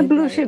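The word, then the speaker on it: Blucher: Pode ficar à vontade Não sei se se é blush ou blusher uhum É bluser mesmo bler né Então essa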